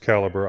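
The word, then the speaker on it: Calibre: Is it caliber or calibbra? It's actually pronounced caliber.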